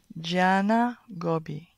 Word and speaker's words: Gianna Gobbi: tell us what is the proper way to pronounce her name Jana Gobi Jana so I used to say like Gianna